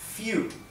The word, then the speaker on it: few: Few, ¿bien? Recuerden que la terminación EW en inglés se pronuncia U.